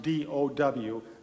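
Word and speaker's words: Tao: ancient chinese spiritual philosophy it spelled t AO pronounced do w the dow and there is a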